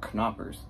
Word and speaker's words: Knoppers: and they're like, no, in German you pronounce the K. It's not knoppers, it's knoppers. Well, apparently I don't have